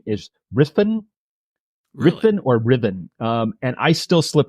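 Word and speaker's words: Ruthven: named John poori and that vampire is Lord ruthin tell us about him we could spend this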